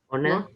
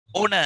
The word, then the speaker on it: honor: Honor. Yes. Honor. Honor. Yes, good. Honor. H is silent.